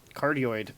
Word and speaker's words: cardioid: you say it it's a cardiopulmonary embolism no cardioid is the shape of the sound so like